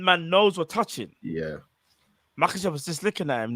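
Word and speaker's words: Makhachev: Do you see the way how Shamaev, you see the way how how do you pronounce his name? Makachev.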